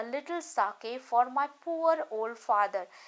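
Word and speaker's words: sake: सा is pronounced like फा इन father, and के इज राइमिंग विद वे।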